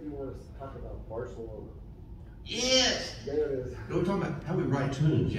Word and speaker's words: Barcelona: So if you think of it musically, Barca is pickup, and O is downbeat, Barcelona. Now, tell you another song that does that is Desperado, right? Same number of syllables, third syllable, downbeat. Desperado, that's where the downbeat is, Barcelona.